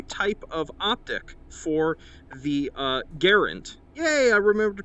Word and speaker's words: Garand: And then lastly, in terms of new stuff thrown in here, we have a new type of optic for the Garand. Yay, I remembered to pronounce it correctly.